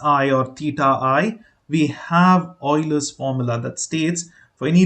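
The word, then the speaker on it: Euler: hope you know the Oilers formula uh it's written as u e l e r it's pronounced Oiler I will just uh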